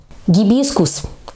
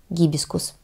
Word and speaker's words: гибискус: Гибискус. Именно так правильно произносить это слово, название этого цветка из семейства мальвовых. А вы как произносили? Признавайтесь в комментариях. Я, кстати, тоже произносила, признаюсь вам, гибискус. Правильно, гибискус.